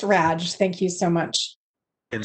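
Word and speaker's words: Radsch: pronounce that that sir it's pronounced raj thank you so much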